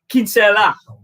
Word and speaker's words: Kinsella: removal of any doubt it's pronounced kim kim kinsella that's right honey right